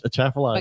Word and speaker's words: Atchafalaya: So many I have to look at Atchafalaya spelled before I can pronounce it. Yeah. Atchafalaya.